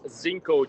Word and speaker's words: Zinco: It's known as Zinco Jazz Club, spelled with a Z.